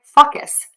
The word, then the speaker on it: focus: We are going to say that long O. Open the mouth and move to a pucker. O. O. O. Move that mouth. Because if you don't move the mouth, you say ah.